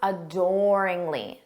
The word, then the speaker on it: adoringly: or admiration let's practice adoringly notice that syllable stress on door adoringly inly adoringly repeat